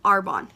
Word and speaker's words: Arbonne: actually that's how you say the name to our bond that is how you pronounce it a lot of people I get